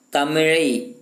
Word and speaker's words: தமிழ்: சரிங்களா, தமிழை தமிழ் என்று தமிழை தமிழை அப்படிங்கிறது அந்த லகரம் அப்படிங்கிறது சில சிறப்பு லகரத்தை போட்டு சொல்கிறாங்க, சிறப்பு லகரம் போட்டு சொல்கிறாங்க சரிங்களா. அந்த மாதிரி சொன்னால் மட்டும்தான் அது சரியான உச்சரிப்பு, சரியான எழுத்து, சரியான மொழி சரிங்களா.